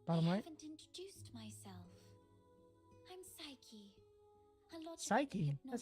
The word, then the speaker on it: Psyche: Psyche. That's how you pronounce it.